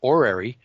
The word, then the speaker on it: horary: And there's also a form of astrology called horary, which is spelled with an H, Horary.